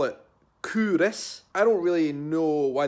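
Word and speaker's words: Culross: the kingdom of faith and said it's not pronounced kollross like I was saying like in Edinburgh lad than I am in faith people call it Kunis I don't really know why they call it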